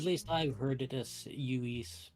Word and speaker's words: Lewis: Yes, I believe it's pronounced Uis, not Uis? Okay, Uis. Yeah, sorry. Spanish. I'm so just in the US used to a Saint Louis, so I never think double L as a Y sound.